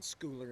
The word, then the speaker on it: Schooler: And Schooler is how you pronounce it.